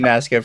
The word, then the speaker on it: Nasco: Also, thank you, Nasco, for the 2. You pronounce it exactly as it's written.